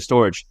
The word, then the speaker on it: Storj: know storage you know it's spelled storj but it's pronounced storage but yeah besides that